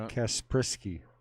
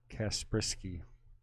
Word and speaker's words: Kasprzycki: anything let's get you kasprisky is how you say his last name kasprisky how you say his